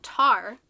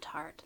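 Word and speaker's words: Taar: Oh, tar. Not tart.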